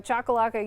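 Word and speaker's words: Choccolocco: if you all recall when I first started here I did not pronounce that correctly and you guys all helped me learn how to pronounce that so thank you so chakalaka you are actually in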